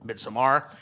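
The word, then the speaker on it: Midsommar: It's a really interesting thing to say because the first two movies in Asters's filmography, Hereditary and Midsamar, as we've unequivocally said, that's how it's said.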